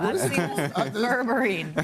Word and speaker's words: berberine: Berberine, right?